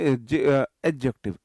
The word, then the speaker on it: adjective: डी जो होता है इसमें एडजेक्टिव। डी थोड़ा सा ना बहुत कम प्रोनाउंस किया जाता है। डी को हम एफसाइज करके नहीं बोलते। एडजेक्टिव नहीं बोलते। एडजेक्टिव एडजेक्टिव बहुत मतलब बहुत हल्का प्रोनंसिएशन डी का इसमें रहता है।